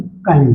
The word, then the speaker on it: chyme: है तो उसे हम काइम बोलते हैं। ठीक है, कहीं पे काइम बोलते हैं, कहीं पे चाइम बोलते हैं, तो CHYME।